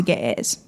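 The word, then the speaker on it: Ge'ez: somehow made it to Ethiopia was translated into G. And I'm not sure I'm pronouncing that right, but maybe my G- A.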